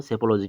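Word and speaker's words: psychology: सेपोलॉजी। ठीक है? इसका क्या होगा? सेपोलॉजी होगा इसका। पी एस ई इसको पी नहीं बोल सॉलेंगे हम लोग।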